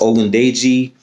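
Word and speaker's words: Ogundeji: call him uh but his last name i believe is pronounced odin day g um he's the defensive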